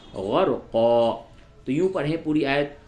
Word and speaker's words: غرقا: استعمال کیا جاتا ہے۔ ایسے تو ہجے میں آپ کہیں گے قاف دو زبر قن، غرقن، لیکن جب آپ یہاں پہ وقف کریں گے تو ہو جائے گا غرقا۔ تو یوں پڑھیں پوری